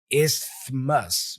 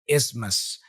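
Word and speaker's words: isthmus: as you can see the difficulty lies in the pronunciation of the th as an as and the omission of T the combination of is can be confusing as well leading to pronunciation like what I tried before isus but you don't do that you just say ismus ismus okay so here's the tip for this word ignore the T and focus on pronouncing is mus so imagine there's no T there listening to the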